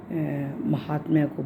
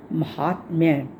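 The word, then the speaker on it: माहात्म्य: बहुत से आप में से महात्म को बोलते हुए बोलेंगे महात्म्य नहीं। यह शब्द है महात्म्य। महात आधे त पे कोमा म्यमपी महात्म्यमपी यह शब्द ध्यान रखना है और एक चाव्ययम च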